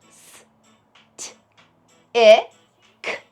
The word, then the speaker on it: stick: Do you see the CK at the end sharing a box? That's because the C and the K have promised to work together to say the K sound at the end of words.